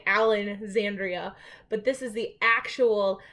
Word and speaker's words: Alexandria: the library of alexandria i'm gonna say it wrong because i'm so used to saying alan zandria but this is the actual library of alexandria like that disappeared and